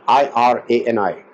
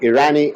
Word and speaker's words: Irani: Now you will find a lot of last names as Irani, Irani. In India they call it Irani. I say Irani. It's I use a different pronunciation for that.